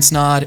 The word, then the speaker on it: Snaadt: My name is Snaadt. It Rhymes with Odd, and you're listening and watching the Rhymes with Odd podcast.